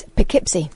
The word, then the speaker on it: Poughkeepsie: Catherine is typing it phonetically on my screen. Just say it. Go on. What is it? It's Poughkeepsie.